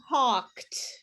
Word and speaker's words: talked: worked kissed okay so you'll notice that the the e's are not pronounced okay so it's not wished and it's not talking it's talked so it's only one syllable one clap wished not